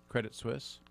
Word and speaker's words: Credit Suisse: Now, this is how do you pronounce it? Credit what? Credit Suisse.